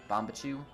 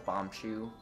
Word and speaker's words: Bombchu: chew bowling alley uh it's another word i mispronounced it's how you call them bomb bomb cues as a kid uh and then i kind of switched to bomb but you bombachu so i know it's bombchu but i'll probably end